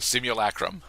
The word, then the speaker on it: Simulacrum: so it's not overwhelmed then the Simeon srum simulacrum simulacrum thank you the Simeon simulacrum kind of